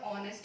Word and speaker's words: honest: exactly take the itch you simply omit it out although it is there in its spelling but in pronunciation it's nowhere and that's what we